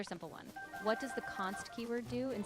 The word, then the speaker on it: const: Yeah, it's just pronounced like const, short for constant. So when you apply it, you just say it as const, and it means the value stays fixed.